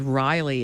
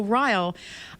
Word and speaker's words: Ryle: reading, you know, I I actually pronounced his name as Riley in my head, and I don't know why because I didn't like Riyle. But anyway, um so Riyle, I just so many